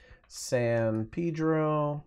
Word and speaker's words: San Pedro: I could create a new group called San Pedro and yes that's how they say it in Southern California I don't know why